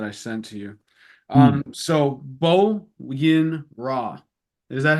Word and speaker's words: Bo Yin Ra: So Bo Yin Ra. Is that how you say it? Bo Yin Ra, yes.